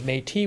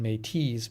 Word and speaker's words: Métis: Rick says Métis would probably be the French Canadian pronunciation, Métis being the anglicized pronunciation.